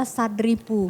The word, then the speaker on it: Sad Ripu: boleh e info sedikit Eh ini dibacanya adalah sadripu oh sadripu bukan S bukan sad ini karena bukan bukan bahasa Inggris Ah ini nanti yang